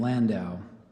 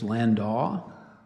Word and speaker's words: landau: repeat the alternate pronunciations so there's the main pronunciation Landau there's landaw and Lando Lando l a n